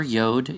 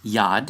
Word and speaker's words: yad: of the J which they call yud Replace the yad No never yod It's yad is the ancient Hebrew letter which is a Y sound Never a J As